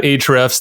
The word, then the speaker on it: ahrefs: but yeah check out ahrefs that a is silent it's a-h-o-r-e-f-s-com i've been wanting to say that for a while a-h-r-e-f-s dot com ahrefs seven